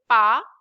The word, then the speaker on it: parents: This is called parents. Ts will be silent.